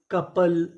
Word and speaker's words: couple: COUPLE कपल, कपल, कपल का मतलब होता है जोड़ा, यहाँ पे जो OU है उसका उच्चारण हमें नहीं करना, तो पूरी मीनिंग कपल।